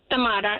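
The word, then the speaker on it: Thamara: Tamara, yeah.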